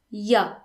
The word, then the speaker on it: il y a: Il y a, which means there is or there are, is often pronounced ya. In fact, it's rarely pronounced il y a. Most people would just say ya.